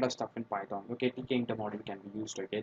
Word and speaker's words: Tkinter: is all about the TK inter module in Python. Oh wait, it's not so tough to pronounce. Called it may be pronounced as Tkinter or TK inter or Tkinter. That's your wish, but that's a module